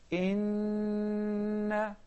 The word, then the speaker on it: إننا: Basically, it is إننا, but the two noons are joined together and we pronounce it as إننا.